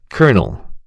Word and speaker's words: colonel: colonel A senior military rank famously spelled with L's, but pronounced like kernel.